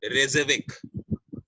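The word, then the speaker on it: Reykjavík: REY, ठीक है, के, ये के आपको पढ़ना नहीं है, ये के साइलेंट में जाएगा, JAVIK। तो रेज़विक, आपको पहले वाला के नहीं पढ़ना, तो रेज़विक जो है ये कैपिटल है आइसलैंड की, ठीक है।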